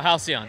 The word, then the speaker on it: Halcyon: man Curtis here from Halcyon did I say that right Halcyon yes sir what did I butcher it with my Brooklyn accent no Halcyon yeah you said it right alright now I was